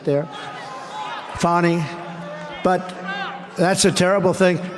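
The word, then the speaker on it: Fani: happening in Georgia with the horrible case of Fanny Willis. It's It's actually pronounced Fonnie. It's f an AI, but you pronounce it Fonnie. A little French accent there. Fonnie.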